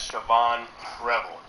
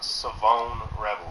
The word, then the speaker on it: Savone Rebel: you everyone pay attention, has been pronounced it as Siobhan Rebel. And that's, you know, obviously that's how it's spelled. But that's not the correct pronunciation. So it is Savone Rebel.